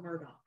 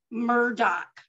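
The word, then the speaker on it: Murdaugh: name is Murda it's m-u-r-d-a-u-h they call him Murdoch Murdoch right if they say Murdock they say murder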